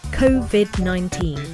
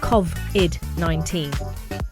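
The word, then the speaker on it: COVID-19: are very important so the pronunciation should be covid 19 and certainly not kov id 19.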